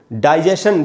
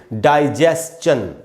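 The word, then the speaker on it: digestion: जैसे ये वर्ड है, अब ये पाचन क्रिया, पाचन तंत्र, डाइजेशन बोलते हैं हम, डाइजेशन एकदम गलत उच्चारण है, इसको पढ़ेंगे डाइजेस्चन, डाइजेस्चन, STION, डाइजेस्चन, ऐसे पढ़ना है।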